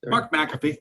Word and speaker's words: Mark McAfee: I have Mark McAfee. Did I pronounce that correct again? Yeah, Mark McAfee.